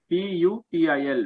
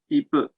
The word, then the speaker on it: people: kushi see in pronunciation we shall be careful in not unnecessarily mixing two pronunciations since there is another word you pill p u p i l which means student so if we will pronounce people as pupil it will overlap with the word which means student so it is all the more important that we pronounce it as people okay so uh next